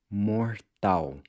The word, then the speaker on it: mortal: happy" "do que qualquer mortal" - "than any mortal" Notice how the "al" is pronounced "au" So, "Acho que eu